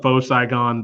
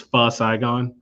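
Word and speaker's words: Pho Saigon: place for me well i call it faux saigon the protect the the correct pronunciation is fuzz saigon um and it's probably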